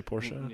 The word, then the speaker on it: Porsche: You don't you don't you say Porsche, you say Porsche. It's Porsche. It's it's saying we we don't say Nike. It's night. And I know we're wrong. We're probably wrong for Porsche, but for me it's Porsche and Knight. for you. It's Porsche and Nike or whatever it is.